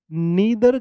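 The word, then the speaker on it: neither: कई कुछ कहीं पर प्रोनाउंसिएशन नाइदर होगी, आइदर होगी, कहीं पर इदर नीदर होगी।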